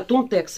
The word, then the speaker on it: Tontex: А, Tontex, вот правильно читается.